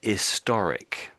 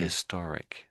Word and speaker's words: historic: That's what we say, strangely, an historic. And you may And that's why we have an end there, because we don't tend to pronounce the H for this particular word in this particular situation.